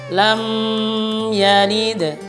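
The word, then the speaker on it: لم يلد: Padahal kan di sini mim sukun bertemu huruf ya itu adalah izhar syafawi. Dia tidak dengung. Maka biasanya dia membacanya begini. Lam yalid.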